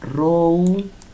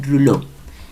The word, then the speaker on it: Rouleau: Se escribe en francés, es Rouleau, pero se pronuncia Rouleau, que es el francés, fenómeno de Rouleau.